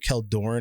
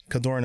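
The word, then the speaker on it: Kjeldoran: seeing, I pronounce it Keldorn Outpost. I believe the J is silent.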